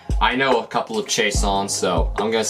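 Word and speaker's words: Chiasson: you say it I know a couple of chaon so I'm going to say it like that they always call call it chasson on the broadcast but I'm going to do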